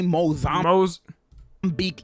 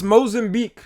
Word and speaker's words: Mozambique: I seen a bunch of fake ones like this 1923 Mozambique EAS. That is not how it's said. It's Mozambique.